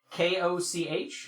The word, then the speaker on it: Koch: I was like, it's spelled K-O-C-H, and I was like, K-O-C-H.